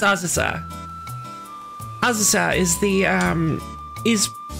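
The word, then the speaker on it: Azusa: everyone pronounce it as USA and it it's just it's Spain now I may be totally off Bas here I may be entirely wrong they but that's not how you pronounce Japanese names ausa isn't ausa no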